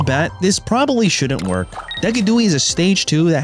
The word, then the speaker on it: Decidueye: And its name is Decadooi. Now, my chat thinks I can't pronounce its name right. They call it the Sigui, and they're probably right.